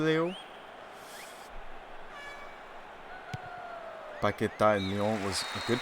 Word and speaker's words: Paquetá: Paquetá in Lyon was a good player, actually.